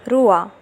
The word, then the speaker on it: roi: OI is pronounced as OUA in French. For example, Roi.